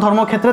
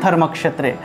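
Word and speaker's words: धर्मक्षेत्रे: আর একটা হলো ক্ষ, একটা উচ্চারণ হলো ব্রহ্ম অর্থাৎ ব্রহ্মা আর একটা হলো ধর্মক্ষেত্রে থাকলে ধর্মক্ষেত্রে, এভাবে উচ্চারিত হবে।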